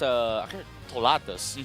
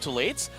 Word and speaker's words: Tolatus: Apparently, it's Tolatus. Tolatus is how you say it. Tolatus. I don't know why, but like when I asked, like, hey, isn't this like Tolates? No, it's actually Tolatus. Some you know, Filipino pronunciation.